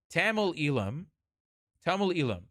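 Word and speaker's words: Eelam: I'll say it in an American accent so you guys can say it, and then I'll say it properly in Tamil. Tamil Ilam.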